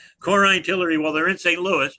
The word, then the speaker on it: Korein Tillery: Stephanie uh very kindly told me how to pronounce the name of her firm which everybody gets wrong which is Corin Tiller.